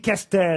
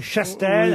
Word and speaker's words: Chastel: Et là, il m'a dit Castel, alors que c'est Chastel.